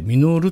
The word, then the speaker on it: 登: ですね久保たーーーー登ると書いて登山のとと書いてミノールと読みます僕らが 5